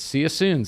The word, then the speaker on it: Cyasoon: be there and uh it's it's see you soon c y s o o n as it's spelled you can find it